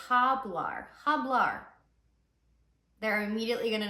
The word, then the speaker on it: hablar: speak and you say hablar HBL they're immediately going to know uhuh that's not correct because it starts with an h and you don't pronounce H's in Spanish so instead of HBL